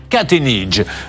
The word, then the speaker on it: Kacheniche: K-A-C-T-H-E-I-2-N-I-J-E, et ça se prononce... Kacheniche.